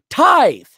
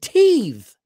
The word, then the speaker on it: tithe: No, tithe. The word with tithe. And he's pronounced it teeth, the other guy.